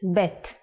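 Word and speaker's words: ב: second character is BET The Sound of bet is B and it looks like this pay attention to the dot it has to be in the middle the print version is like this if you leave out the dot bet becomes vet the sound of vet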